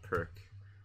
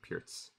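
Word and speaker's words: Pirc: The fuchsia, you misspelled perk. It's spelled like that. Actually, in Russia, or in most countries, they pronounce it Pirts. Like, the C is not pronounced like a K.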